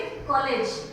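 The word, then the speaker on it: college: शब्द हो गए कॉलेज, तो ये कॉलेज भी नहीं है और कॉलेज भी नहीं है। इसको कैसे प्रोनाउंस करोगे? कॉलेज। तो थोड़ा सा ये दोनों के बीच का साउंड हो गया, आ और ओ के बीच का साउंड है कॉलेज, थोड़ा जल्दी से खत्म हो जाता है।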